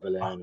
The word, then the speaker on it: Valerian: Am I pronouncing it correctly? Valerian and Laureline.